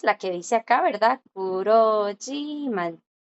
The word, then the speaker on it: 그렇지만: Así es como se escribe, pero esa J que está ahí no se lee. Cuando la J, chicos, está como 받침. Cuando la J es un 받침, siempre queda muda.